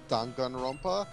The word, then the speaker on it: Danganronpa: Yeah, so Danganronpa V3 basically confirmed that it's pronounced Danganronpa. Yeah, I still pronounce it Danganronpa because of the Of course it's Danganronpa.